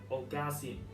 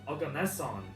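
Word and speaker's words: oganesson: In 2002, Russian scientists found our seventh element, Ogasi. Oh, oh god, I can't pronounce this right. Please give me a moment. Organeson.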